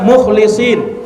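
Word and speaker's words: الْمُخْلِصِينَ: Ada yang membacanya innahu min ibadinal mukhlasin dengan memfathah huruf lam, mukhlasin. Dan terkadang dibaca mukhlisin dengan mengkasrah huruf lamnya. Itu juga ada bacaan qiraat yang lain.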